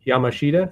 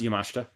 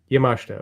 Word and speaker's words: Yamashita: stream this morning to ask about t yashida Yamashita is that right uh it's pronounced yamashta yamashta okay it's spelled like Yamashita but it's the